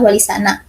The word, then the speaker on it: Wali Sana: H R Muhammad Adnan kata wongo merupakan perubahan atau kerancuan dalam pengucapan kata sana yang berasal dari kata Tana atau mulia yang serupa dengan kata terpuji seingga menurutnya pengucapan yang benar adalah Wali sana yang berarti wali-wali yang terpuji Wali Songo berarti Wali